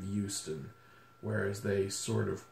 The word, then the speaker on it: Houston: French the the H we keep it silent on words like human or the city of Houston whereas they sort of